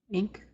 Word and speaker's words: ink: Ink are two example words of the nasal sound. When you pronounce these words, you're not pronouncing the N, you're nasalizing the I.